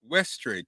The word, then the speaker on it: Westray: kenny how do you say your last name ashtray westray kenny westray look y'all